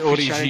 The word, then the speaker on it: Origi: La si dice Origi. Di Origi. No, sì, allora in realtà è Origi. È Origi.